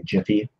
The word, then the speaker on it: gif: so here we go how do you pronounce jiff okay some money gift of the proper ways jiff just like giraffe gotcha see surely f